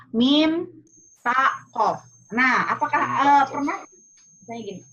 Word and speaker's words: MTQ: apa harus sama loh Itu dari Inggris ini dari Arab berarti harus dalam bahasa Arab apa M taqo kali mim ya mim ta Q nah Apakah eh pernah